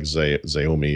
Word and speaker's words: Xiaomi: I don't know how you pronounce it, like Xiaomi or whatever that is.